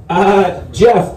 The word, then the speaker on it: Geoff: Geoff, big G up here, dude. Geoff actually spells his name with a G, like a total fucking douche. So phonetically, it's spelled Geh Off.